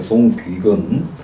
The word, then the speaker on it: 송귀근: 윤규근이 아니고 송귀근. 우리 경상도 사람 발음이 잘 안 되는 이름입니다. 그래서 송귀근 이 군수가 이런 말을 딴말 하는 하는데 분들 발음을 계시네요.